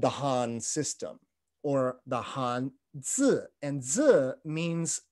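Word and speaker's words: 汉字: They are pronounced in modern Mandarin, Hanzi or Hanzi.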